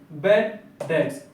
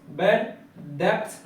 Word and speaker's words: bad debts: entry अब second है बेड डेटस बेड डेप्थ नहीं होता है बैड डेट्स होता है बी साइलेंट है यहां पर तो बैड डेट्स